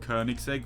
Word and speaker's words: Koenigsegg: you're supposed to uh I said Koenigsegg uh my own you know is a Swedish brand Koenigsegg I said it like that instead of Koenigsegg which is the proper way to say it uh you know